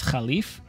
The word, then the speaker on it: Caliph: So in the game, they pronounce Caliph as Khalif.